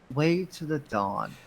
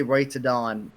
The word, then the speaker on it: Way to the Dawn: the Super Edgelord one, Way to the Dawn. Okay. We're about to reach Leytrx's controversial opinion time. I keep saying this Keyblade's name wrong. I always say Way to Dawn all the time.